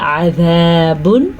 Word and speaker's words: عذاب: عذاب عظیم. اب آپ نے دیکھا یہاں پہ بھی ذال ہے اور یہاں پہ زوا ہے، لیکن ان دونوں کا ساؤنڈ جو ہے ایک دوسرے سے مختلف ہے.